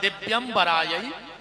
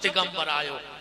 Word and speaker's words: दिव्यंबरायै: शुद्ध उच्चारण है दिव्यंबरायै च दिगंबरायो, और आदमी जल्दी जल्दी में बोलत है दिगंबरायै च दिगंबरायो, दोनों बार दिगंबर दिगंबर कहता है।